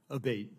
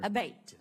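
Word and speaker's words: Abbate: Abate, and am I saying your name properly? We've heard it pronounced 3 different ways today in the hearing. Abate, Senator. Abate.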